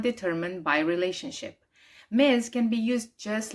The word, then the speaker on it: Ms: pronounced miz.